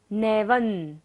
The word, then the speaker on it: नैवं: ज्ञानम यथा त्वयि विभाति कृतावकाशम नैवं, व के ऊपर बिंदी है और बाद में क्या है? त वर्ग, त थ द ध न होता है, तो बिंदी का उच्चारण क्या होता है? न।